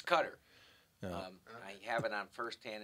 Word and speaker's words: Qatar: is how you pronounce q-a-t-a-r most people say cater or Qatar guitar it's cutter I have it on